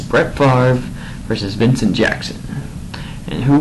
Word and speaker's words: Favre: Favre. Hold on. I'm just going to say Favre, even though it's not really how it's spelled.